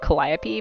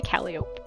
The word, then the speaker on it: Calliope: out of a habit i know it's like calliope but like i say cali so i'm sorry they